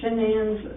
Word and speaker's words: Shanann: It's easier to say it when I spell it out, but we keep wanting to say Shannon, of course, but a lot of people call her Shannon.